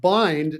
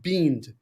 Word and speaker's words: bind: And he is, as a result of using this, realized that, for example, this word is pronounced bind, not beamed, right?